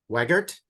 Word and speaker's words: Wegert: Hi, it's with To-Do List, and I'm here to talk about author Tessa Wegert.